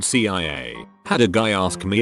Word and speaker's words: CIA: Both are initialisms, so you pronounce each letter as in SEEM and SEO, just like the CIA isn't pronounced Kia but CIA.